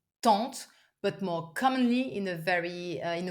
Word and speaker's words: tante: Normal word would be oncle ou tante. Not easy either because they are both like using a nasal French sound.